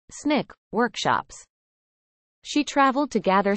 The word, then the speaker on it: SNCC: taught classes and various SNCC pronounced Snick workshops she traveled to